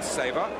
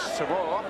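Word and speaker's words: Savor: Now Wally Sabre. Which is how he asked me to pronounce his name, although known in many parts of Australia as Shavor.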